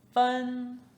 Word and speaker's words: 分: "cut" or "divide" For instance, our next character: "fen1" "fen1" 分's meaning is "to divide" or "to separate" Can you see what is on top?